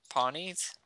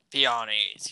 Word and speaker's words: peonies: Pawnees? How do you pronounce that? No, P-E-O-N-Y. Peonies.